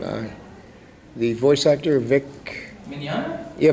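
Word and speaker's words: Mignogna: the uh you know Vic I can never pronounce his last name uh the voice actor Vic minana yeah minana yeah uh and the other question is you're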